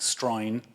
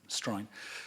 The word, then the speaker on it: Australian: un argot, como el Stroin de Australia, ¿no? Que así pronuncian los australianos, Australian, dicen Stroin.